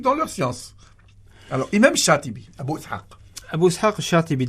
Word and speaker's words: Shatibi: Al-Imam Shatibi. Je prononce bien son nom?